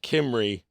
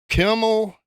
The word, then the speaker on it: Kimrey: It's always Kimmel, Kimbrey, Kimrell, and I'm like, I'll just spell it out for you.